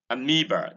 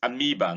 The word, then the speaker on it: amoeba: And the last column here, we have the word amoeba. This is amoeba, not amoeba. The OE of amoeba is pronounced as E, not O.